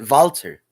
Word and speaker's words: Walter: his dad's name was Walter you pronounce it vaulter you know the WZ